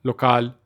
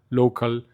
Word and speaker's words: LOKL: Hay gente que dice local, digo, listo. O sea, así lo entendió, así le nació. Y esa palabra en inglés, en español, en chino, cuando la gente lo pronuncia sin la a, porque le quitamos la A, casi siempre llegan a esa fonética parecida, ¿cierto? como local, local, eh local, o sea, pero siempre